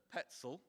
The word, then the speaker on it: Pecl: Greta Petzl. And for those who've been getting her name wrong for all these years, that's how to pronounce it.